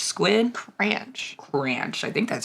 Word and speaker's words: Cranch: squid or the Antarctic Cranch squid Cranch Cranch I think that's how you pronounce it right looks like it it's like ranch with a C mhm yeah it's a